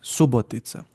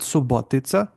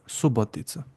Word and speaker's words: Subotica: Well, so the stress is on U, but Hmm. O can pick up a little bit. So it might Hmm. sound like it's on O, but it's Subotica. Hmm. Not Subotica, but Subotica.